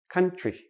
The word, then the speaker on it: country: for a few letters when we have TR TR together usually sounds like C HR so we don't say country we say country con tree like a tree that grows but even a